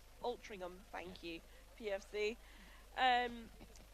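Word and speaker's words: Altrincham: Next games we have on court A, we have Nottingham Forest versus Ultrum I cannot pronounce it. Ultringam Ultringham. Ultringham, thank you.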